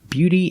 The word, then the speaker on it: beauty: And the last two words are these, beauty and beautiful. They're a little different because it's not just AU, it's EAU, combining to make the sound U, like you.